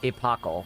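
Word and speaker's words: epochal: Uh, epacle is how that word is pronounced. Epacle integration. Uh, it's an um extension of the word epoch, which is like an era, a long period of time.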